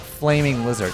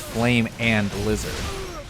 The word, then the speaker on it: Flamin' Lizard: It's not flaming lizard. It's flame and lizard.